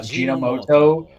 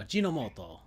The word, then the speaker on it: Ajinomoto: Wow, I butchered that in my head. I thought Ajinomoto, like GEN, was right. It's Japanese, so there we go. Ajinomoto.